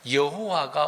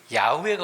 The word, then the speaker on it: 여호와: 근데 뒤에서 한번 더 말씀드리겠습니다만은 여호와가 옳은 것이지 야외가 옳은 것은 아니다. 야외는 문제가 있죠. 잘못된에 발음이고 또이 야외는 더 깊이 들어가면 이제 오늘 그거 다 설명할 수 없습니다.